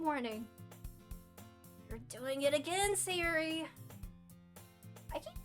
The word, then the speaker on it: Sayori: I keep calling her Sayuri and I just realized her name's Sayori. I'm gonna end it all. I read it wrong the very first time I read it, and now I keep saying it wrong.